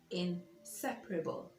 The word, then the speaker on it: inseparable: PE RA BL e in separable in separable and not inseparable or whatever in separable so the stress is on the second syllable now I hope that